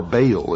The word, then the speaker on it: Baal: the ancient worship of Baal our bail is some pronounce it ma was the son